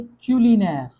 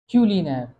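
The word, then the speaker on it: culinaire: इसको हम प्रोनाउंस कैसे करेंगे? क्यूलिनेर। क्यूलिनेर।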